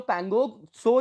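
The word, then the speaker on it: Pangong Tso: टू countries है ना तो जो पैंगो शो जो है टी आपका साइलेंट है तो जो ये आपकी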